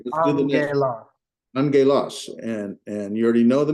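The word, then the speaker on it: ἄγγελος: What's the second gamma pronounced as? As a gamma. As a G, right? Yes, sir. All right, Okay. so now pronounce it. So it's on ge los. All right. Put it together.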